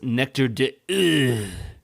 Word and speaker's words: Nectar d'Or: I believe it's pronounced Nectar d'Or. That is the correct French pronunciation, yes. Yeah, I figured Nectar d'Or.